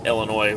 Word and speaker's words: Illinois: grew up in or you may pronounce it Illinois with a silent is their rule is that